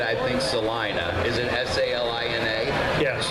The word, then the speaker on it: Salina: Is it S-A-L-I-N-A? Yes. Then, according to my English teacher, the I becomes a long I because the A, there's only one letter between it, so it's Salina.